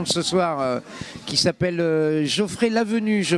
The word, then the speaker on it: Geoffrey Lavenue: Ça va troubler notre gagnant de ce soir, qui s'appelle Geoffrey Lavenue, je prononce bien?